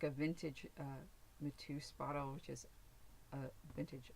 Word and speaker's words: Mateus: Right here, this is I think you pronounce it Mateus. It's like a vintage Mateus bottle, which is a vintage alcohol bottle.